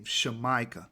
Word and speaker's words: Jamaica: a disclaimer Jamaica is not supposed to be pronounced Jamaica that's a mispronunciation of the original land name shamica that's how you're supposed to say it a